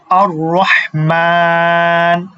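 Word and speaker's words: الرحمن: আল্লাহু আল্লাহু তারপরে হচ্ছে কি আর রহমান দেখেন আর রহমান মিমের উপরে খারা জবর আছে এখানে তাহলে কয় আলিফ টানতে হবে এক আলিফ টানতে হবে আর রহমান আর রহমান হায় উচ্চারণটাও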